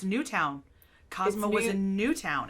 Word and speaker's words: Newtown: newtown they keep saying newton and i'm like the w is right there it's right there it's newtown cosmo was in new